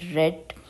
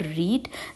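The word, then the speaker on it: read: पुट पुट रीड रेड रेड sweat sweat sweat thrust thrust thrust upset upset upset in the word रीड the spellings are same in ऑल the forms but वी रीड it like रीड रेड रेड सो दैट्ची thank you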